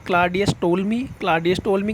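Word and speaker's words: Ptolemy: यहां लिखा हुआ है इसमें टी साउंड साइलेंट है आपको इसी तरीके से इसको टोल मी बोला जाता है पी साउंड यहां साइलेंट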